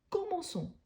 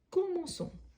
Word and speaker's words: commençons: à la première personne du pluriel on a commençons et pour éviter la prononciation comment con donc là il faut ajouter la Sédille nous nous commençons nous commençons vous commencez ici ça revient avec